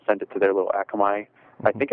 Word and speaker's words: Akamai: our RSS and sent it to their little Akamai. I think it's Akamai. I don't know how you pronounce it. Akamai, yes.